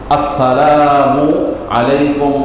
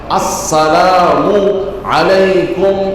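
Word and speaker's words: السلام عليكم: শুরুতে হামজা উচ্চারণ হতে হবে ঠিক মত। মিমের উপরে পেশ এটাও ঠিকমত উচ্চারণ হতে হবে। ম্যাক্সিমাম ভাইদের এই হামজার উচ্চারণ হয় না। মিমের উপরে পেশটা উচ্চারণ হয় না। আসসালামু আলাইকুম ওয়ারাহমাতুল্লাহি ওয়াবারাকাতুহ।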